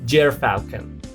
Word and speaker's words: gyrfalcon: That's because the gyrfalcon lives in the Arctic, way out in remote areas of Canada and Alaska, pronounced gyrfalcon.